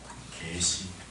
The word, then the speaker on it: 계시: 이 계시를 정확하게 발음하려면 입을 납작하게 열어서 뒤로 당겨야 돼요.